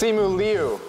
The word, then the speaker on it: Simu Liu: Simu, I want to make sure I say it right, right? It's Simu Liu. Yes.